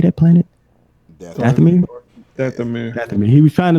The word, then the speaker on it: Dathomir: Dathomir.